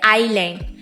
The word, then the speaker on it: island: जैसे कि इगलैंड बोलना चाहिए लेकिन बोलते थे आइलैंड।